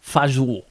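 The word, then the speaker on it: fagioli: one of the bangers how did you do faggioli pronounced fajou yeah so that's exactly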